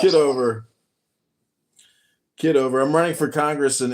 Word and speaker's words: Kitover: The other, is it Kitover? Or how do you pronounce it? Kitover.